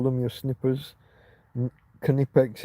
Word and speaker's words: Knipex: Knipex is a brand where the K is supposed to be pronounced.